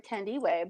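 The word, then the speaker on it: Thandiwe: So so I believe she pronounced her name Tandiwe, but we always thought Tandy Newton should play her.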